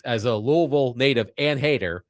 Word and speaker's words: Louisville: Josh on our text line says, as a Louisville native and hater, say it like lol, but quickly. Loserville is also accepted.